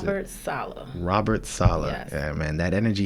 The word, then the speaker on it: Saleh: I don't know how you pronounce Robert Saleh. it. Robert Saleh.